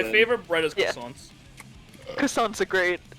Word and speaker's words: croissant: croissants. Croissants are great, like sweet. My family croissants bullies especially. me because I pronounce them correctly.